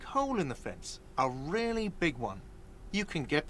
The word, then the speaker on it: real: You owe me 130 real. He pronounces the R with a mock aristocratic accent.